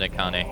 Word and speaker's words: Akane: Oh, the in-game name is just Katni. But I just pronounce it Akane.